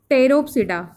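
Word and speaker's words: Pteropsida: अब ये 4 क्लासेस में है, सीलोपसिडा, लाइकोपसिडा, सीनोपसिडा, फिर लाइकोप, फिनोपसिडा, टेरोपसिडा, ठीक है। सब में साइनेट ये पी साइलेंट है, जिसमें जिसमें पी आया है वो साइलेंट है।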